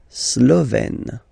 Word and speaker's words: Slovène: Slovène. Remember, E accent grave, you open it.